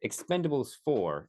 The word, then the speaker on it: Expend4bles: movie Expendables I'm sorry Expendables for is how it claims that it is pronounced but I will call